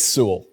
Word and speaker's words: Sewell: It's Sewell. It's just like Sewell. Sewell, yeah. Just kind of flow through all the letters and it just becomes one mush.